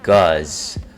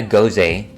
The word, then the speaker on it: Gose: So this is a guz. It's not a gose, as some people might say. It doesn't rhyme with Jose.